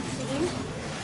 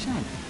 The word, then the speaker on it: Sean: It's seen. Huh? It's seen. It's definitely Sean. What? Yes. No. If it's spelled like that, it's Sean.